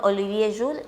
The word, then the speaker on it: Olivier Schuhl: Estamos ahí entre Francia y Alemania, por eso se escribe como alemán, pero se pronuncia como francés.